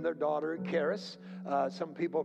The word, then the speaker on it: charis: Some people name their daughter charis. Some people pronounce it charis. However they pronounce it. Actually, in Greek, the K would be silence. So you'd pronounce it haris, haris.